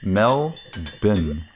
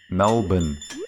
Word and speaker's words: Melbourne: It's like Melbourne. Melbourne. That's it. It's like bin, but without the I bit. Bin. Hey. No, there's no E. It's Melbourne. No E.